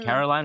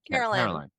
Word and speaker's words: Carolyn: How do you say her name? Caroline or Carolyn? Carolyn.